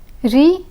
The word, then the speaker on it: riz: Riz and gaz. Riz and gaz. The Z in riz is silent, but the Z in gaz is pronounced.